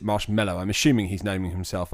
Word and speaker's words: Marshmello: Marshmello, we say it marshmallow here in the UK. He pronounced it marshmallow.